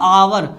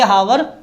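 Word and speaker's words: hour: इसको पढ़ते हैं हम आवर ना कि हावर। एच is silent in this word.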